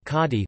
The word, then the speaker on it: Kanji: Kanji, Hanzi pronounced kadi, listen, are the adopted logographic Chinese characters that are used in the Japanese writing system.